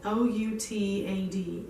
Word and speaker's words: OUTAD: O-U-T-A-D.